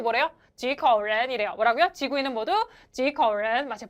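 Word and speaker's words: 几口人: 그래서 발음 어떻게 돼요? 지커렌. 자, 이때 여러분 요거 잊지 않으셨죠? 큰 체크 표시처럼 발음하셔야 돼요. 지커렌 발음하면 틀린 거예요.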